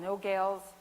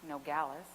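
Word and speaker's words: Nogales: find out I'm going to a place called No Gales Arizona that's how I thought it was pronounced cuz because I took German in high school and um I needed to learn Spanish it's actually pronounced nog Galis and it's a small town on the southern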